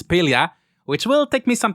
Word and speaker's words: Palia: the same mistake but now I know it's pelia which will take me some time to get